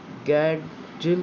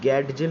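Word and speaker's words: Gadgil: तो ये मैं आपको बता दूं कि गैडजिल जो है इसका प्रोनाउंसिएशन थोड़ा सा ट्रिकी है। अगर आप में जब भी प्रोनाउंस करें आप उसको ध्यान से देख रहे होंगे तो आपको पता चलेगा कि यहाँ पे डी थोड़ा सा साइलेंट है। ये गैडजिल नहीं होगा, ये गैडजिल होगा।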